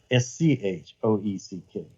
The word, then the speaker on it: Schoeck: Schecht, and that's spelled like Shoeck, right? Schoeck.